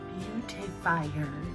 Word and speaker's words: Beautifier: I said it wrong last time. Beautifier, not beauty.